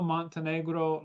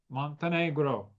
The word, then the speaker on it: Montenegro: Very honored to have with me Montenegro, like the country. Montenegro.